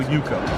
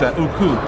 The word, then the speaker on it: Uko: I tell people Uko. Uko. All right. Because over the years, that was the more common pronunciation. Alright, okay. So now my family pronounces it a different way. That's what I was gonna ask. So what's the other pronunciation? It's Uku.